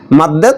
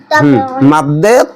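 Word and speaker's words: مَدّ: জায়গায় বইতে মদ লেখে মদ বলা যাবে না মাদ বলতে হবে কারণ মদ যেগুলো খাইলে মানুষ মাতাল হয়ে যায় আসলে এখানে যে টানতে হয় এটার নাম মাদ মদ না কারণ আরবিতে মদ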